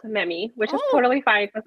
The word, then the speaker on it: Memi: name yes um so it's in Spanish so it's actually pronounced memi which is totally fine because everybody pronounce it Mimi that's perfect yeah uh